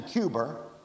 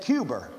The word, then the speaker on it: Cuba: man in cuba well that's the way that jfk he pronounced it and he and he was trained at hall but you know you know he said cuber i know it's supposed to be cuba but who's who's the